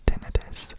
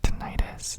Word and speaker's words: tinnitus: of the ringing is called tinnitus or tinnitus depending on how you pronounce it and again it's